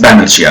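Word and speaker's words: Banerjea: Spelling error नहीं है, बैनर्जिया ही लिखा जाता है, बोला जाता था उन्हें सुरेंद्रनाथ बैनर्जिया, बंगाली, ठीक है?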